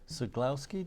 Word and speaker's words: Ceglowski: director of the Vermont school boards Association Sue sulowski did I pronounce that right you did and uh FL